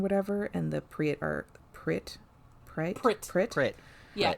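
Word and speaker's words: Prytt: and the Priet are Prit. Yeah, it's spelt with a Y, but it's a short vowel. It's like a short I.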